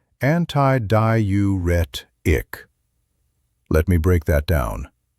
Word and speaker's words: antidiuretic: It's called antidiuretic hormone. Pronounced antiduretic.